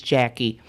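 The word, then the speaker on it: Jacqui: way I spell it I spell it j a c Qi which just means Jackie well some say jqu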